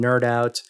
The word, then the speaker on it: KnerdOut: so randy has the nerdout podcast which focuses on toy collecting i guess yeah i'd say i'd say it verges the the webcast is nerd out with a k uh silent k uh yeah i think